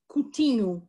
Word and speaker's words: Coutinho: you pronounce my name coutinho is actually how i would say it and coutinho is actually a diminutive